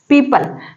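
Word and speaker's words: people: रहा है आगे देखिए पीपल पीपल मतलब होते हैं लोग पीपल नहीं कहते इसको पीपल कहते हैं ओ का उच्चारण नहीं किया जाता बिकॉज यहां पर वो साइलेंट होता है रूल क्या है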